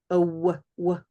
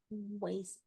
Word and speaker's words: oasis: We have to come up and have this sound, chaos, chaos, and oasis. Oasis.